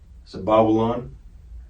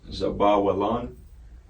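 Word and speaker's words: זבולון: All right, and then number 5, we got Zebulon. All right, Zabawalan, All right, Strong's H2074, the concordance. All right, this is how it's spelled, Zabawalan.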